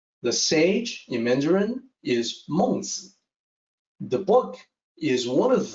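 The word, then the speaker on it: 孟子: The pronunciation in Mandarin is the same. The sage in Mandarin is Mengzi. The book is one of the 4 books and 5 classics, and it is also called Mengzi.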